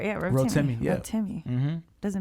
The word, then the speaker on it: Rotimi: Yeah, Rotimi.